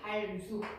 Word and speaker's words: 할 수: 할수 발음을 하게 되면 어떻게 된다? 뒤에 있는 수가 쌍자음이 된 소리로 바뀐다. 그래서 할수 이렇게 된다는 거야.